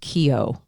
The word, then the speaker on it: Keough: I want to, sorry, real quickly, I think it's pronounced Keough. Riley Keough is her name.